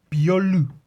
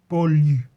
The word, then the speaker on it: Beaulieu: Hand painted, I guess over one of Skottie Young's drawings, painted by Jean-François Beaulieu. I believe that's how that's pronounced. I think it's French. Jean-François Beaulieu, who colours the comics,